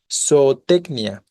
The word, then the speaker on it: zootecnia: Aquí tenemos el hiato entre las dos O, pero en ninguna de las dos O se encuentra la sílaba tónica, ¿no? La sílaba tónica es la penúltima en tec. Por lo tanto, grave terminada en vocal, no se acentúa, ¿vale?